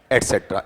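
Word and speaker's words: etc.: और उसे ईटीसी पढ़ोगे या एटसेट्रा? एटसेट्रा। ईटीसी नहीं पढ़ना चाहिए। उसे एटसेट्रा ही पढ़ा जाएगा।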